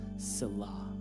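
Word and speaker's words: Selah: the end of that phrase in psalm 61 salah s-e-l-a-h for hebrew that's how you pronounce it fun fact we don't really know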